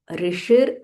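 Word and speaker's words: ऋषिर्: सो लेट अस सी the pronunciation. ऋषिर नाम ऋषिर नाम।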